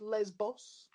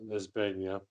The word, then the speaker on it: Lesbos: Secondly, the island is pronounced Lesbos. Not Lesbania.